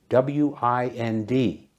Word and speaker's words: wind: next up is wind w i n d pronounced wind like the weather it means moving air the wind blew the